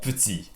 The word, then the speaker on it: petits: But this is so simple because all you have to do to the words petit, petite, moyenne, grand et grande is to add an S, and the pronunciation doesn't change at all.